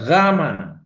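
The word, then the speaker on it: γάμμα: Jadi gama gama gama itu kalau ee diucapkan itu jadi langit-langitnya ditutup itu gama.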